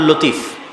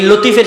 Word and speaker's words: লাতিফ: আমাদের মধ্যে অনেকের নাম আছে আব্দুল লতিফ। আছে না নাই? আছে। এই লতিফের সঠিক উচ্চারণ হচ্ছে লাতিফ।